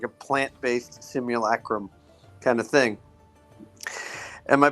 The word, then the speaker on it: simulacrum: Apparently, the actual pronunciation is simulacrum. I reject that reality and substitute my own. It's simulacrum. Right.